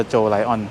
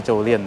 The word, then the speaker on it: Jolion: สะกด ให้ ถูก ต้อง ชื่อ ว่า โจ ไลอ้อนส์ ไม่ ใช่ เจ้า เรียน นะ ครับ แต่ ว่า ว่า เขา